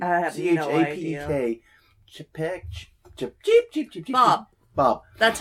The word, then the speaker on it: Chapek: How the flip do you say his name? I have no idea. Chapek.